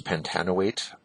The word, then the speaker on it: pentanoate: we call this pent noit um I usually pronounce this pentanoate I just find that a little smoother to pronounce but pentanoate is fine too and before that we